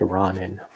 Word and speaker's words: Ronin: It's pronounced Ronin.